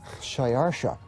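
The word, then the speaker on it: Xšayāršā: His Persian name, in Old Persian, which is his original native language, is Shayarsha.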